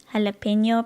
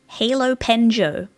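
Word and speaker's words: jalapeño: Jalapeno pronounced halopenjo. Ah, I see now. It's a halopenjo. Oh, I've been saying it wrong. I've been saying jalapeno wrong this whole time. It was a halopenjo.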